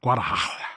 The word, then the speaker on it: Guadalajara: Is that how you pronounce it? Yes. Guadalajara, yes.